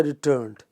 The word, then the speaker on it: returned: The standard English pronounces it with stress on the second syllable. Since I returned.